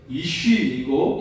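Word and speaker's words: אִישׁ: 히브리어 발음과 관련된 말씀인데요. 히브리어 남자는 이쉬이고 여자는 이샤입니다.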